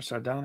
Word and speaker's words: Sardonic: is that the word is that your name sardonic yes oh my God you're like the first person to say it correctly yeah you're actually the